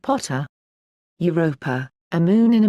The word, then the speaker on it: Pater: par Thor Jove and Pater pronounced Potter Europa a moon in